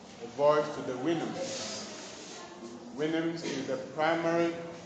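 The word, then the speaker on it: Houyhnhnms: Winhams is the primary pronunciation of the word. Some also call it Hounams. Alright? But Winhams is the primary pronunciation.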